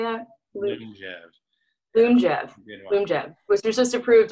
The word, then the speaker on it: Lyumjev: Lyumjev, which was just approved like a couple weeks ago.